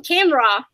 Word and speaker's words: Canberra: Coolidge in live from Canberra do I say it right yeah you said